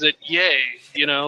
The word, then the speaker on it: Ye: it spelled right yeah and uh but he pronounces it yay you know like uh celebratory yeah yeah and